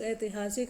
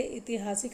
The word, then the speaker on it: ऐतिहासिक: शब्द है अनुषंगिक आध्यात्मिक ऐतिहासिक दायित्व अशुद्ध शब्द का चयन करना है तो जी इसका आपने आंसर लिख लिया होगा चलिए इसको मिला लीजिए इतिहासिक नहीं होता क्या होता है ऐतिहासिक होता है ऐतिहासिक बाकी